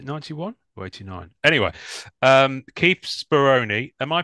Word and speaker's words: Speroni: Anyway, Keith Speroni. Am I pronouncing that correctly for a start?